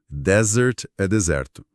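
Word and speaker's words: dessert: da voz no começo, deserto. Mas se eu jogo a força lá pro final, Isso, desert. Com som de Z suave, aí sim é a sobremesa. A sílaba tônica muda tudo.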